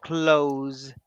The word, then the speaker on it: clothes: have the same sound so close the door because I need to change clothes that's the same sound the first close and